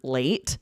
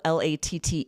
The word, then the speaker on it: latte: That's also how it's pronounced in Italian.